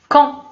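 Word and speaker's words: quand: الوغ هنا كون كنكتبو كوند، يعني كاين واحد دي ولكن ما كنطقوهاش، كنكتبو دي ولكن كنكتبو كون، كنطقو بها كون، يعني هي متى.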